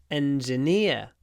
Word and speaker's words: engineer: of the word but when we say engineering we use the double e sound which is the I call it the the serious sound serious engineering but in engineer we use the idea sound engineer idea engineering serious engineer engineering next can you play